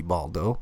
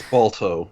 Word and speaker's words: Balto: All right, hope that shitty movie Baldo. That's Balto.